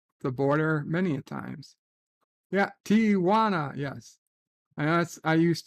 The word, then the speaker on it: Tijuana: Tijuana like what like it's pronounced Tijuana there's no there's no Tia like what are you